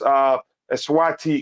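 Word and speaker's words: Eswatini: Again, it's Eswati. Again, in between South Africa and Mozambique. That's the correct way to pronounce it.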